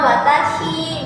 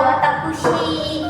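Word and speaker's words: 私: Kalau kunyomi apa? Itu kalau sendirian. Nah, kalau kayak gini itu dibacanya watashi, bisa watakushi gitu. Tapi apabila dia tuh kanji ini ditemani oleh kanji-kanji lain, misal kamu menemui dengan kanji-kanji lain, dibacanya tuh jadi shi.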